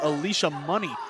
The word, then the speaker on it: Alicia Money: And apologies, it is Alicia Money. That's how you pronounce it.